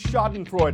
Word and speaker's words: Schadenfreude: term for laughing at someone else's troubles is schadenfreude ah so today alone I've said schadenfreude I pronounced reject I get er de Juan now